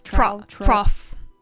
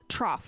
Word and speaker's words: trough: Trough. Trough.